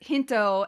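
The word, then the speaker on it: ヒント: a play on words since hint is pronounced hinto and Pinto means to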